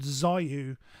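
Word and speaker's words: Xuiu: or so um the first one is called zayu um and it's spelled x-u-i-u um it was supposed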